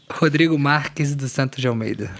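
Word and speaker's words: Rodrigo Marques dos Santos de Almeida: Rodrigo Márquez dos Santos de Almeida. Ajá, como pueden ver, está en portugués, pero no estamos en Brasil, estamos en México, en Tepoztlán.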